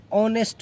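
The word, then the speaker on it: honest: देखिए एन हॉनेस्ट मैन, एन ऑनेस्ट मैन पढ़ते हैं। क्या पढ़ते हैं इसको? ऑनेस्ट मैन। ऑनेस्ट ऑनेस्ट ऑनेस्ट sound के हिसाब से या कहिए या साइलेंट, इसमें एच साइलेंट है तो ऑनेस्ट।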